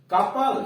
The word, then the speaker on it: couple: कपल, COUPLE, यहां OU का उच्चारण ऊ अथवा अ नहीं हो रहा है, कपल अ हो रहा है, कपल मतलब जोड़ा।